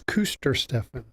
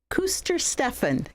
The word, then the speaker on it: Kuestersteffen: It's Kuestersteffen. Kuestersteffen. Good German name. I can say that. Kuestersteffen.